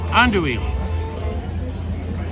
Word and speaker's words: andouille: Andouille. Thank you, Charles Martinez. The correct pronunciation for what I was eating was an andouille.